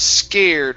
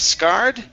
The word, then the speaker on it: scared: go to the word scared right here instead of scarred it's scare scared scared okay very nice uh